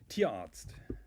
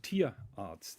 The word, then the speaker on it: Tierarzt: Tierarzt. Say that again, please. Tierarzt. So an animal is called Tier in German, and Arzt is the doctor. Tierarzt. Tierarzt. Tierarzt. No, it's Wow. Tierarzt.